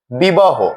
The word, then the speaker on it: বিবাহ: সাথে যে অকারটি ছিল সেটি প এর মত উচ্চারণ হয় বিবাহ হ এর অকারটি হ হয়ে গেছে বিবাহ প্রিয়